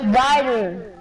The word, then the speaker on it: Ryder: Hey, is your name? Is that how you say it? No, it's Ryder.